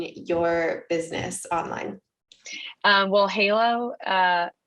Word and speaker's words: Heylo: business online um well halo uh which is spelled h-e-y-l if you haven't picked it up yet hey hello yeah um we love a